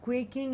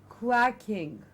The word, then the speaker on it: quacking: Again, mispronounced as quaking at times. I've heard people say quaking. It's not quaking, it is quacking.